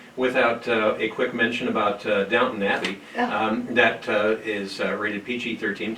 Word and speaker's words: Downton: Downton? Well done. Well done. God. And it's not even close to downtown.